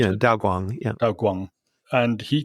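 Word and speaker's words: Daoguang: Is that how you pronounce it? Yeah, Daw Guang.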